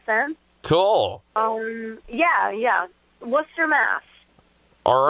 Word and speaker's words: Worcester: from today next Saturday at uh beatnick in Worchester Massachusetts is that correct it's pronounced Worcester I'm from Lal Massachusetts so um it's kind